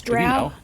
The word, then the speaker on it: drow: largely constituted of of drow how do you pronounce it by the way is it drow or dro it's drought it's drought trail okay and i